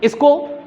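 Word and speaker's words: Isaac: इसाक Asimov, इसको इसाक के रूप में भी हम प्रोनाउंसिएट कर सकते हैं और इजाक के रूप में भी प्रोनाउंसिएट कर सकते हैं।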